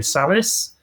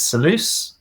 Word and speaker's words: Salus: So for me, I say Salus. I think the correct pronunciation is Salus.